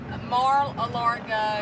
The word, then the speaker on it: Mar-a-Lago: Mar-a-Lago. Marl, how do you say it? Mar-a-Lago.